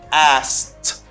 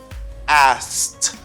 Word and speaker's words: asked: you just pronounce letter A and S and ED that gives a T sound, okay? You say asked, asked.